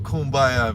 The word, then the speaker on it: Kumbaya: I don't exactly know what kumbaya means, but I do know how to say it.